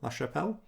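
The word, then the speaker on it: LaChapelle: to do with Dolores I think it's pronounced lat chapel lash chappelle sorry I was just trying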